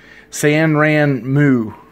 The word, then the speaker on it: Sanrenmu: go by srm 1006 but it's also san rand mu is actually i think how you pronounce it so i got